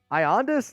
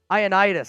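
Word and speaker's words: Ioannidis: don't think that's it we can never pronounce his name right as soon as I hear it huh ionius that's it yeah Matt aitis I always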